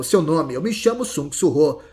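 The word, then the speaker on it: Sung Suho: "Eu me chamo Sung Surô." E a elfa ainda soluçando, respondeu: "Circa Surrô tenta ensiná-la a pronunciar seu nome corretamente. É Sung Surô. Sung surrô. Mas a pequena apenas falava: Sungorô.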